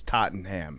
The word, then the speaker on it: Tottenham: dollars that she has excuse me Tottenham I mispronounced that people get mad at me it's Tottenham it's also just funny because